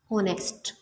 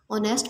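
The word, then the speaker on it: honest: अगर मैं यहाँ पे एक वर्ड पढ़ती हूँ ऑनेस्ट, ऑनेस्ट में जो एच है वो हमारे पास साइलेंट है, तो इसके जो आगे वाला वर्ड है ओ, वो हमारे पास क्या है वाउ। वाउ से पहले हमारे पास क्या है एच, ये जो है वो एक कॉन्सोनेंट साइलेंट लेटर है, ठीक है क्लास।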